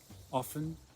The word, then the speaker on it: often: I often watch TV in the evenings, and I sometimes read in bed. Notice with often, you can pronounce the T or not. Often, often.